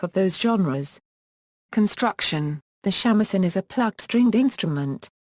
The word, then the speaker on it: shamisen: The Japanese pronunciation is usually shamisen, but sometimes jamisen, when used as a suffix.